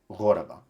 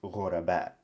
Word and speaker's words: غرباء: So it would be, so the stress changes and it becomes غرباء. But because the police officer is speaking in more slightly elevated language, right? He retains the standard Arabic pronunciation of this word, where not only is the hamza here, but that changes the stress to the final syllable.